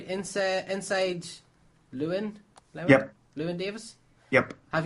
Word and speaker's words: Llewyn: Am I pronouncing this right? Inside Llewyn?